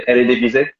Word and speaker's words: Eredivisie: I'm gonna pronounce it well, the Eredivisie.